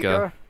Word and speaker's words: Fleeca: Is it's it Fleeca? Fleeca.